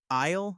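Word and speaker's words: aisle: Isle, the S is silent.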